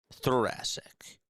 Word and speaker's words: thoracic: Thoracic.